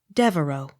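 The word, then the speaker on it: Devereux: v a u x devoe the x not sounded d e v e r e u x devereaux the x not sounded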